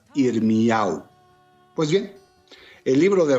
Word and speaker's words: Irmiyahu: homónimos de este nombre que en hebreo se pronuncia irmu Pues bien el libro